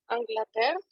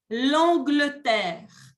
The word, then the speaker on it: Angleterre: est le 4e pays anglaterre parfait répète après moi pour la prononciation on dit l'Angleterre l'Angleterre l'Angleterre numéro 5 quel est